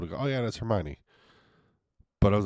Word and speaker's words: Hermione: in my head as Hermione. How in the hell was I supposed to know it's Hermione? Like her, my knee. Her knee and my knee.